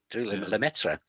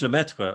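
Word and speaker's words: Lemaître: You have to pronounce this correctly for me, George Lemaitre. Lemaitre.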